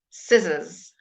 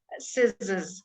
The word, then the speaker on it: scissors: repeat after me science scissors SES that's going to be slightly difficult for the Spanish people scissors Scissors because some of